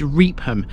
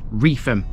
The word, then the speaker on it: Reepham: know so very well many people think this is reapham but it is in fact refum the pH in its name forms an F sound trust me I'm a